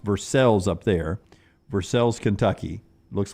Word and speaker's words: Versailles: 1:20 Central from Versailles, just outside of Lexington, but pronounced Versailles up there. Versailles, Kentucky. Looks like Versailles. So it's Versailles in France, but it's Versailles in Kentucky?